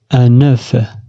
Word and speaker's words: un œuf: عندما تكون في الجمع لا ننطق الحرف F نقول des œufs.